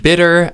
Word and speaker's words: bitter: this sound is the same as that in ladder and ladder and bitter and bitter this is all the same sound the spelling is a little confusing you'd think how could a tea and an R produce the same elephone but actually in reality